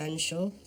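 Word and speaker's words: Featherstonehaugh: more I don't know Miss Featherstone Hall pronounced F Shaw looking for a leader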